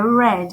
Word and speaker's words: read: Na terceira coluna, está escrito read. Mas a pronúncia dele, quando se trata de particípio, é read.